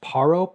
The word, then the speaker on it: Paro: These are two pilots going into the, I believe it's pronounced Paro, P-A-R-O, in Bhutan.